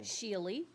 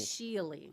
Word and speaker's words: Schiele: Schiele. Schiele. Yes. All right, you say all the words, all the word letters, the consonants and the vowels, everything. Schiele. Nice. It's German.